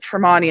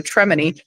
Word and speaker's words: Tremani: you know, so, and they'd always pronounce it Tremani instead of, you know, Tremani, because it sounds fancier that way.